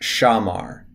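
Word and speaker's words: שמר: you see a verb, you just memorize it with A sounds underneath it now. So this would be pronounced amar. This one down here would be pronounced shamar.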